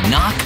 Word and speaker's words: knock: letter in kite and a silent k is also the first letter in knock over if you don't